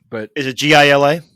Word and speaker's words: Gila: I think that's correct, but Is it GILA? it's GILA. Yes, then the it's Gila correct. monster. Yeah. Okay. I always pronounce it Gila, and I just found out